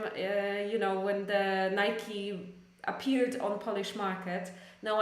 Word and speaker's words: Nike: it in English so in in English we pronounce it as Nike okay it is a Nike it is not Nike but Nike or not definitely not Nika which I pronounce this as Nica as uh